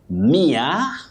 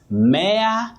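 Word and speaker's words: mere: That adjective you say mia. Yes. Mayor. No. Many people talk of mayor.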